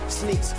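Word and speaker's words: Sneakz: Spell it out, S-N-E-A-K-Z. Sneaks, say it, Sneaks.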